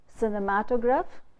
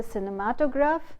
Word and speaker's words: cinematograph: You say cinema, cinematograph, cinema, where the stress is on cinema. But when you say cinematograph, the suffix graph, you say put the stress on the syllable just before the suffix, and you say cinematograph. The stress is on matograph, cinematograph.